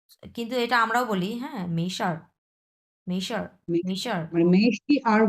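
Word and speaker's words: 没事儿: মেশার, মেইকোয়ানশি এটা মানেও ইটস ওকে মেইশার।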